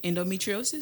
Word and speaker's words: endometriosis: Endometriosis.